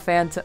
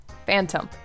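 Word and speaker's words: Phantump: look at so cute I love phanto I mean wow yeah Phantom yeah wow I almost said it wrong anyway um yes so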